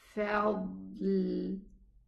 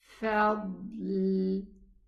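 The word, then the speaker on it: فضل: This is how we are going to say it. Fadl. Again. Fadl. Both are sukoon letters, and this is the difficult part of it, to pronounce two sukoon letter consecutive after each other. So what we did is that we pressed here for the dad, and then we moved this touching point to a pressure point to pronounce the letter lam.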